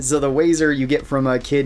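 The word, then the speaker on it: Wazer Wifle: So, the very first one is called the Wazo rifle, which I hate saying it like that, but that is how it's written. That is how it's pronounced. So, the Wazer you get from a kid named Billy Billy.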